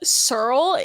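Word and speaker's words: S3RL: Surl is this artist from like 2010. It's spelled S3 RL.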